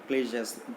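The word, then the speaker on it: cliché: Painting in to publicity ക്ലീഷേഴ്സ്. ഈ ക്ലീഷേഴ്സ് നമ്മൾ ഉപയോഗിച്ച് പഴകിയ കാര്യങ്ങളാണ്. ഒരേ വാക്ക് കുറേ തവണ ഉപയോഗിച്ച് അത് പഴകിപ്പോകുന്ന പ്രതിഭാസത്തെ നമ്മളെന്ത് പറയാറുള്ളത്, ക്ലീഷേ എന്ന് പറയാറുണ്ട്. CLICHES. അത് ക്ലിച്ച എന്ന് വായിക്കരുത്, ക്ലീഷ എന്നാണ് അതിൻ്റെ ഉച്ചാരണം കേട്ടോ.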